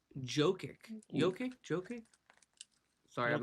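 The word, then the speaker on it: Jokić: Pronounced properly. Jokic.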